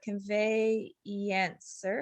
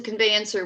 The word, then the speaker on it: conveyancer: the case all right and it's pronounced it's it's working as a conveyancer which is transferring property